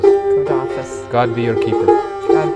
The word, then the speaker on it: Khuda Hafiz: Khuda Hafiz. Khuda Hafiz.